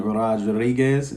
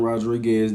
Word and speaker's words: Rodriguez: right now but justin rodriguez name has been coming up a lot and make sure when you guys pronounce his last name you roll those r's but i want to